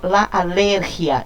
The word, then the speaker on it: alergia: falamos em espanhol alergia, porque para falar alergia eu tinha que ter esse i aqui acentuado. Se eu não tenho acentuado, a palavra não é oxítona, ela não pode ter a sílaba tônica aqui nessa posição. Ela vai ter aqui uma paroxítona pra gente no espanhol, tá? Então, eu digo la alergia e não la alergia.